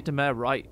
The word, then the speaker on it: Dumais: Dumass TV. Dumair TV. I say Dumair right? Mm-hmm. I'm the only person in the community to do that. That's Mr. Dumais.